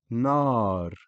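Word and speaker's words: نار: Nar. Again, fatha followed by aleph.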